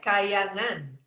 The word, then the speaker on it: KAHYANGAN: You're Chief Relaxation Officer of KAHYANGAN. Is that how you say it? Yes, KAHYANGAN.